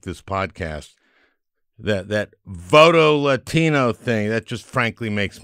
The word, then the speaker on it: Voto Latino: latino is my guest and that's how you pronounce it voto latino it it's it's nice it's not voto latino like some xenophobes might do voto latino it's